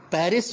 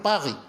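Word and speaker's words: Paris: پیرس جو ہم کہتے ہیں، انگلش کا یہ تلفظ ہے، وہ لوگ کہیں گے پاغی، غین.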